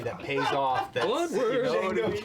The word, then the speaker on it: Django: Django can't be D Because the D is silent.